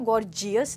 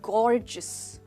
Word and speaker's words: gorgeous: दोस्तों इसकी प्रोनाउंसिएशन पे ध्यान दीजिएगा, हम इसको गॉर्जियस नहीं बोलेंगे बट गॉर्जियस। तो जो GEOU है इसको आप बोलेंगे जिस, गॉर्जियस, और आपका स्ट्रेस आएगा गॉर के ऊपर।